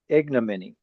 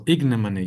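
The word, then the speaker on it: ignominy: Ignimony. Yeah, I keep forgetting this. The stress falls on the first syllable. Ignimony.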